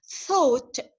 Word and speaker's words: thought: H here silent silent G and H and E are silent so thought repeat after me thought